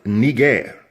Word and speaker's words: Niger: and press the audio play button, it is pronounced Niger.